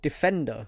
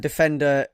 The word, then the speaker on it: Defndr: And to rival the app Reaper, that's spelled REAPR, you have an app called Defender, which is DEFNDR, I think.